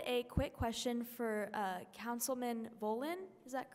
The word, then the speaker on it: Volin: And I had a quick question for Councilman Volin. Is that correct? Am I pronouncing that correctly?